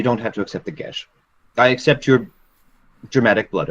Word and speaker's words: geas: Would you accept a gesh? A what? A gesh. A It's spelled gaze? Geas.